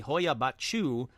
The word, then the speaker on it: Hoia Baciu: Now, let's pause right there to say I think I nailed the pronunciations on this one. Not only did I say Hoia Baciu, but I also said Cluj-Napoca in Romania.